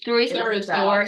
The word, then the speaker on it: Thurisaz: Thurisaz. Thurisaz, yeah. Thurisaz. Thur like Thor, but with the U.